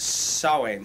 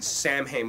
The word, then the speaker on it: Samhain: the Celtic holiday of Samhain. Samhain, most people would pronounce it. I believe it's actually Samhain, S-A-M-H-A-I-N.